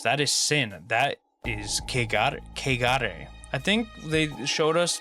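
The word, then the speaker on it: 穢れ: That is kegare. I think they showed us the pronunciation. I think it's K, like K-A-Y. Kegare.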